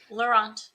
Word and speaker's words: Laurent: And I actually didn't get the correct pronunciation of your last name. Is it Laurent or Laurent? Laurent, yeah.